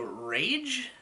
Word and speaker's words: Rach: Ray Tish or Rach it says it's pronounced like the English word rage so rage um Diego Pete